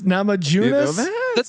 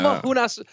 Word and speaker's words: Namajunas: that you really think that that's how you pronounce the last name of Rose. Just really go through that one again. Namajunas. That was better. Yeah. Namajunas.